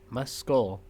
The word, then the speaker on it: muscle: have to enunciate pronounce the C, right? Muscle. Muscle. Muscle. If you say it fast enough, like no one's going to know. Muscle. I I Actually, you will. Just kidding. That's a pretty sharp k.